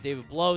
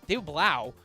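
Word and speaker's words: David Blough: Ian Raport says that David Blow is the only one who's I keep messing his name. David Blau, uh, is the only one that they've looked into, at least according to his reporting.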